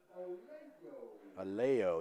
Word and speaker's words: Aloyo: Aleo, that's how they say it.